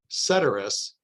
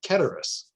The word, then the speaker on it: ceteris: as i can tell americans tend towards ceteris and it's the brits who say keturis but i'm going to say ketters because i think it